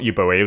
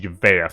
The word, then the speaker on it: Euboea: It's not Euboea, is it? I think it's pronounced Uvea from what I remember you guys telling me.